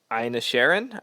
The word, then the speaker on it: Inisherin: My favorite of the bunch has been the Banshees of Inisherin. I think it's how it's pronounced.